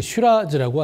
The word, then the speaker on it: Shiraz: 그리고 호주를 대표하는 포도 품종은 바로 프랑스 3대 산지에서 주품종이었던 북부론의 주품종이, 거기는 SYRAH, 쉬라라고 발음하고, 호주에서는 같은 품종을 SHIRAZ, 쉬라즈라고 하는 거죠.